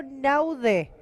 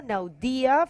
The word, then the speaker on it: Naude: Oh, actually, that's not Jorge Hernandez. That's Hugo Naude. Hugo Naude from South Africa. So actually, there is a pronounce. Oh, Naudia. Hugo Naudia from South Africa.